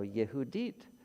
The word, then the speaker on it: Yehudit: it's courtney judith carter so yehudit is simply the hebrew pronunciation of judith and where does that